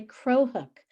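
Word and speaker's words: Cro-hook: It's also called a crow hook. And crow is spelled C-R-O hyphen hook.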